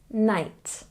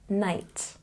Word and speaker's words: night: thought and this one night it's got the long eye sound night and here hi usually